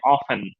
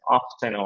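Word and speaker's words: often: ক্ষেত্রে আমরা বলতে পারি অফেন। এটা দুইটা উচ্চারণই কারেক্ট। অফস্টেন অথবা অফেন। ঠিক আছে? অফেন অথবা অফসেন দুইটাই দুইটা মানে আমেরিকান ব্রিটিশ দুইটা অফেনও আছে অফটেনও আছে অফেন অফেন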